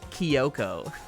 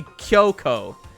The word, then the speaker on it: Kyoko: Cuz it should be Kyoko. Kyo is one syllable. But he turns it into from two syllables into a two-syllable word into a three-syllable word. Kyoko.